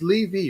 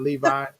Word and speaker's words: Levy: your last name right it's lee v right not levi you're one of the few people that does say it right okay i know a lot of people want to say levi you know everything except that so how please explain